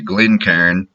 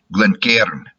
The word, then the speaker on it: Glencairn: In Scotland, it would be something like, and I'm not going to be doing it exactly, I'm sure, something like Glencairn. In my Texas hick pronunciation, Glencairn. If I try to do it Yankee style, and I have to stop and get myself to do it, Glencairn.